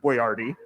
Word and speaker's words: Boyardee: touche so you know he pronounced it boyardy he makes canned spaghetti